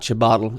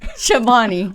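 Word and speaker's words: Chobani: Is it It's not chabatle. It's uh chabani.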